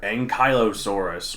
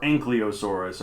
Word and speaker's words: Ankylosaurus: And today we are talking about the fused lizard, Ankylosaurus, or Ankylosaurus, as you like to say, Jake. Mm-hmm. Although either one's fine. I don't think there's any real official way to pronounce it.